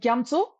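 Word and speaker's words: Gyamtso: And gyamso, gya-so, gyamso.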